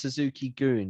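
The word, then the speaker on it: Suzuki-gun: could have been so it is pronounced Suzuki goon yeah Suzuki gun yeah because gun in Japanese means Army so Suzuki that's what I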